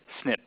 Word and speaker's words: SNP: One class of polymorphisms are the single nucleotide polymorphism, which is pronounced SNP.